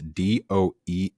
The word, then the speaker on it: Doehla: It's either Mike Dola or Mike Dala. It's Doehla. I'll give you Okay.